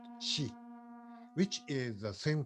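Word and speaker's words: 四: the tends in Japanese the number four is pronounced she which is the same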